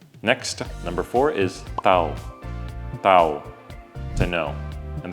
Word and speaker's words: tahu: Next number three is next number four is tao to know and there is an h in this word but if you pronounce the h for some reason tahu means tofu in Indonesian.